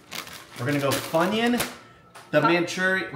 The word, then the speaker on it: Maruchan: We're gonna go Funyun, the Manchurian. How do you say it? Manchurian? Maruchan? Maruchan.